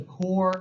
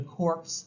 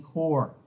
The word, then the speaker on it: Corps: to join the Marine corpe you don't pronounce the S it's kind of a French thing so the expedition was